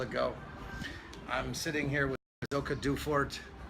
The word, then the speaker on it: Silke Duefert: I'm sitting here with Silke Duefert. I'm bad with, did I pronounce that right? That's right.